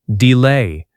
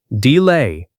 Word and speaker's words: delay: Repeat after me, delay. Pronunciation tip, it rhymes with today, delay.